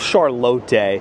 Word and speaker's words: Charlotte: Uh, there's this restaurant called I believe it's called Charote, but it's spelled Charlotte because it's in the uh Lay or Latte. Man, I've been messing this up for like years. Spelled Charlotte, but I'm pretty sure it's Charote in the Lay Hotel.